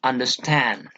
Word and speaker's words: understand: For example, understand. Okay, understand. Do you understand? In this particular word, we give importance to the last one only, stand. Okay, un and der. These two syllables are not given importance.